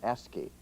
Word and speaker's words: ASCII: for information interchange or ASC III pronounced s key using this list for